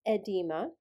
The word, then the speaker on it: edema: The suffix or word edema, pronounced edema, refers to fluid accumulation or swelling.